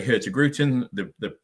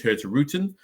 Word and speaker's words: Hurtigruten: Some people say Hurtigruten. I believe the correct pronunciation is Hurtigruten, but again, a lot of people in the UK and a lot of people around the globe know it as Hurtigruten.